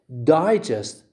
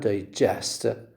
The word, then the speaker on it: digest: One receives the stress on the first syllable, the other receives the stress on the last syllable.